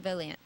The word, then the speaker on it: Volant: The tiny borough of Volant is home to numerous shops and antiques.